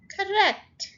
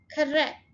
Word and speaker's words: correct: Correct, यहाँ पे stress किसके ऊपर है, इसके ऊपर, सेकेंड syllable के ऊपर. Correct.